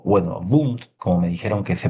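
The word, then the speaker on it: Wundt: E y bueno, pude ver de cerca este laboratorio eh estaba el escritorio Wund o bueno, Wund, como me dijeron que se pronunciaba ya, era un hombre que trabajaba mucho, hacía muchos apuntes, ¿no?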